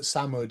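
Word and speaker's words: Sumud: So, oh you it's spelled S S U M U D but Sammud is that how you pronounce Samud.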